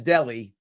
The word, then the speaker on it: Delhi: new york that says delhi it's not it's delhi that's how it's pronounced pronounced in new york